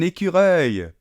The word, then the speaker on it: écureuil: Comment on prononce ça? Ah ouais, là c'est moins mignon, ouais. C'est un écureuil.